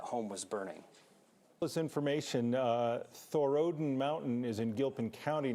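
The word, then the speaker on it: Thorodin: Oh wait, Thor and Odin, so it's Thorodden Mountain, but a high point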